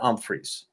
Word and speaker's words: Humphries: footballers will remind you it's pronounced with an um freeze ah yeah anyway uh